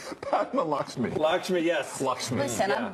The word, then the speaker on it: Lakshmi: I don't need Padma Leshki, whatever beautiful girl she is. Yeah. I don't need her telling me what to do. I don't know, how do you say her name? Padma Lakshmi.